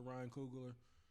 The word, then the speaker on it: Ryan Coogler: Shout out to Ryan Coogler. Is that his? Yep. Did I say his name right? Yeah, Yep. yeah.